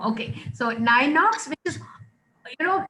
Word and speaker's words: Ninox: n-i-n-o-x how do we pronounce it uh it's pronounced as nine odds nine knocks i knew i was doing something wrong okay so nine knocks which is you know it's a pun so